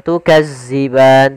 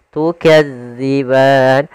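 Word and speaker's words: تُكَذِّبَان: Hati-hati dalam melafalkan huruf dal karena di sini bukan huruf za. Jangan tukazziban tapi dia tukadziban.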